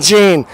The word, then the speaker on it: Jean: It's spelled J-E-A-N. The woman way of spelling Jean. My name's Jean.